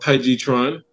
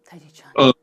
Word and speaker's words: Tai Chi Chuan: I speak Chinese, so I tend to speak the pronunciations specifically. So it's originally called Tai Chi Chuan. Tai Chi Chuan.